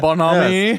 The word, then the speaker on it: bonhomie: So all this clapping and false bonhomie, is that how you pronounce that? Yeah, bonhomie. Yes.